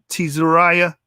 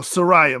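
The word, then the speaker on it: Tzariah: Shalom to Tizariah. Oh, Sariah, my bad. It says the T is silent right there.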